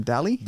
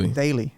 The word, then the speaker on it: Daly: Daly. Daly.